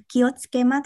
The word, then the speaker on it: 気をつけます: À, vậy mình đọc để một cụm từ kiosuke mas thôi ha. Kiosuke mas. Kiosuke mas. Mình không phát âm cả cái từ sự ra như vậy, mà mình quả nào như vậy thôi.